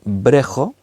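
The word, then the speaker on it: βρέχω: palabra griega se llama la palabra se pronuncia brejo brejo significa mojar es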